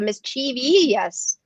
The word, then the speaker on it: mischievous: And also, you put like 3 syllables more syllables into mischievous.